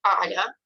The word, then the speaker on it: ala: L is always soft, that's why I make the second a softer, ala.